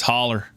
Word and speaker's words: Hollow: Here it's spelled hollow, but said as holler.